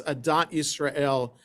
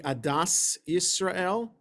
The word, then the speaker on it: Adat Israel: Isel okay if you if you pronounce Adat Israel in the ashkanazi Yiddish way it would be Adas Israel okay Addis Israel or sometimes the letter tough is a th adth Israel so lots of synagogues